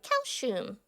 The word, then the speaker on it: calcium: I know for like when I was younger, I like mispronounced calcium for a while too, because I used to think like it was pronounced the same way you would pronounce it in Japanese, which is calcium.